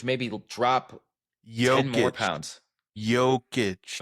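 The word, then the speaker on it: Jokić: Jokic. Americans say Jokic. I know. I know you guys over there in Ukraine. Joker. They say Joker cuz they can't pronounce Joic.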